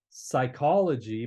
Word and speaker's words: psychology: like we would say psychology but we don't pronounce the p in English but that's it comes